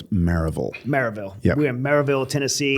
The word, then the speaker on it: Maryville: Smith Wesson, which is now in Maryville, not Marysville. Oh, yeah. They don't like that here. And it is not even Maryville, it's Maryville. Maryville.